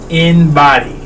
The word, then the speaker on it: embody: Cuz inbody is spelled E M B O D Y. But it's think if you think about how you say it, inbody.